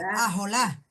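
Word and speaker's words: ojalá: Ajolá, no, nosotros pronunciamos así ajolá, ¿no?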